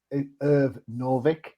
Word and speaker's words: Irv Novick: It's Irv Novick. Hmm. Hmm. Did I pronounce that right?